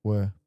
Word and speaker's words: Weir: Am I saying that right? Were. Weir. How do you say it? Were.